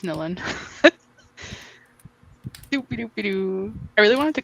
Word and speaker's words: Nilin: Anyways, it's Nilin. Doopy-doopy-doo. I really wanted to cosplay her. I said her name wrong, but I got it right.